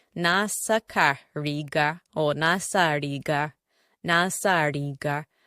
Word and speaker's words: riga: The next word we are going to look at is R-I-G-A. R-I-G-A. This word is pronounced in 3 different ways. The first one is as a shirt. And as a shirt is pronounced riga.